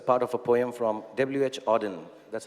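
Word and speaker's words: W. H. Auden: so it's a part of a poem from WH Auden that's how you pronounce it so I wish you first a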